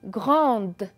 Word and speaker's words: grande: Le E ne se prononce pas. C'est un E muet. On a aussi grande.